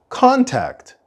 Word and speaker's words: contact: contact him contact NOS the stress of the word contact is at the beginning contact contact and we also